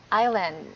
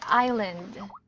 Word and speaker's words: island: Island okay so yeah this is how you pronounce this island okay one more time okay so please remember okay all right so don't let s me I didn't don't pronunciation it is silent s yes okay so it's island all right okay so